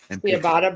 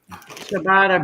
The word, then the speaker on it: ciabatta: Ciabatta bread. It's ciabatta. Pronounced ciabatta. Well, I know, but I didn't see the H. Chewbacca bread? There's no H in ciabatta bread. It's chi.